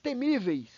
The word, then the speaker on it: temíveis: Já temíveis, ela não é proparoxítona, pessoal, ela é uma paroxítona, porque o acento está na penúltima sílaba, no mi.